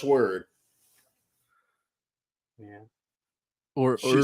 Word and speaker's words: Wyrd: Tre uh Oscar says is it pronounced word or weird it's pronounced word yeah or she says